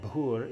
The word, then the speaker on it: Bhur: So with Bhur, anytime there's a consonant with an H after it, you pronounce it with a little puff of air. Bh, Bhur Bhuva Swa. Bhur Bhuva Swa. And the U in Bhur is a long U, and then in Bhuva, it's a short U.